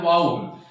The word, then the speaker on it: vowel: इनको कहा गया है वाउल। यदि हमने कहीं पे VOWEL को वोवेल पढ़ा है तो वो उच्चारण हमें छोड़ना पड़ेगा और हमें उसको वाउल बोलना पड़ेगा।